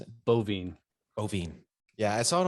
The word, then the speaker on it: Boivin: packed schedule all right guys we got donnie boy even is that the right way to pronounce it bovine bovine yeah i saw it on on facebook